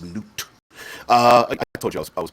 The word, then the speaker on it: Nut: yab and goddess of the sky which is not probably mispronouncing that but ring it Osiris and Isis